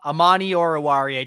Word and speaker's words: Amani Oruwariye: Oh, Amani Oruwariye.